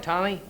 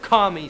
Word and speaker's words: Tommy: want to play with commie Smothers you knew my name was Tommy you could have said it right but you didn't you could have told him it was Tommy instead of commie I know that now